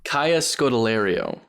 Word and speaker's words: Kaya Scodelario: Kaya Scodelario. Thank you very much. It is pronounced how it looks.